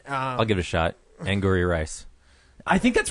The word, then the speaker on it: Angourie Rice: Angourie Rice.